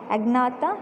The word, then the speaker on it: Agnatha: How to pronounce? Agnatha and Gnathostomata.